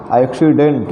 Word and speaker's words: accident: नियम कहता है कि अगर डबल सी के बाद ई या आई आए तो पहले सी को क, दूसरे सी को स पढ़ा जाता है।